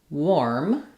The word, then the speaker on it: warm: It's actually an o r sound even though the spelling is letters a r in this word. We say this as warm. Is just like the word wore plus an m.